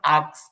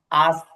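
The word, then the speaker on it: ask: একটু খেয়াল করেন, এখানে একটা হচ্ছে আপনি যেটা বলতেছেন আক্স, উচ্চারণটা প্রনাউন্সিয়েশনটা হবে আস্ক। আস্ক ক পরে, ক পরে যাবে আস্ক। আক্স আক্স আস্ক।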